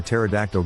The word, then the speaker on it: pterodactyl: never seem to unwind why can't you hear a pterodactyl go to the bathroom the p is silent why does piglet smell